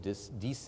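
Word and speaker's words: Disse: And then as particles pass through that opening, they enter what's called the space of Dice, I think is the proper way to pronounce that, and they encounter the basal membrane of the hepatocyte.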